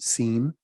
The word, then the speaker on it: SIEM: Abbreviated, you can pronounce it SIEM.